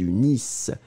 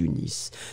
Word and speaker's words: unissent: Nous unissons, vous unissez, ils unissent, elles unissent. So remember, E-N-T in the end, you don't pronounce it.